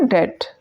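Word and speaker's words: debt: word use होता है डेट डी ई बी टी B silent रहता है और इसको हम बोलते हैं डेट डीई बीटी तो सच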